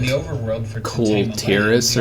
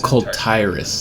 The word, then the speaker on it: Kul'Tiras: I play it is I pronounced everything different when I was a kid, because, you know, they didn't often pronounce it in the actual game, and so, like my brother and I called it Kul'Tiras or something. What did we call it? Oh, Kul'Tiras, that's what we called it.